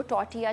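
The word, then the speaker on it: tortilla: आप उनको टॉर्टिया chips भी कह सकते हैं, जिसमें टी साइलेंट होता है, कुछ लोग टॉर्टिला बोलते हैं बट टॉर्टिला नहीं, टॉर्टिया चिप्स भी होते हैं।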